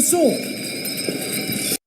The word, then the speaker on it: sword: The sword. The sword. The sword. Sword. In sword, we don't pronounce the w, the w sound. We say sword.